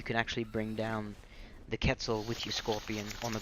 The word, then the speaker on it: Quetzal: you want to call it it's actually properly pronounced Quetzal but what do I know but anyways I'll